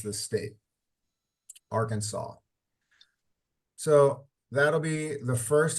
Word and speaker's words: Arkansas: state and it has a s uh Arkansas Arkansas is how you pronounce this state Arkansas so that'll be the first half of class